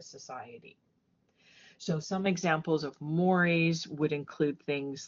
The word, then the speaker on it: mores: And so I know this looks just like moors, but it's pronounced mores like the eel in a way to remember that.